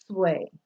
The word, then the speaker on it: Sui: So someone's last name could be SUI, and that name would be pronounced sway, like SWAY.